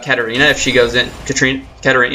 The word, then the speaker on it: Katarina: Katarina, yeah, I said it right. I keep saying Katrina, it's like kind of awkward that I'm saying that.